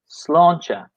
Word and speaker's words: sláinte: So in Ireland, we say sláinte. For the pronunciation, sláinte.